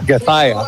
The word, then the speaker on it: Gathaya: Gathaya. There we go. Gathaya. I'm going to write that down. G-A, because it's not spelled like that. Thigh, like a chicken thigh.